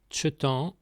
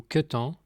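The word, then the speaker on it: kentañ: Premier se dit tchetan ou ketan. On prononce tchetan dans la majeure partie du bas vantais, dans le pays d'Hennebont, dans l'ouest et le nord du pays de Pontivy.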